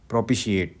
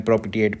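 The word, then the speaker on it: propitiate: इसकी प्रोनाउंसिएशन देखो, प्रोपिशिएट, ठीक है, प्रोपिशिएट है इसका प्रोनाउंसिएशन। मैं प्रोपिटिएट पढ़ रहा हूँ, प्रोपिशिएट।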